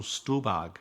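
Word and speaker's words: Stuhlbarg: I've got this right Michael stag I guess is how you say it I first noticed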